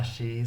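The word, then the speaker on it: し: Sa, shi, su, se, so.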